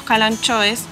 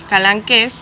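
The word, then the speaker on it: kalanchoes: Pero esto presta confusión ya que hay varios calanchoes, pronunciado correctamente calanqués, que en sus hojitas van formando sus hijitos y de manera natural los van soltando para propagarse.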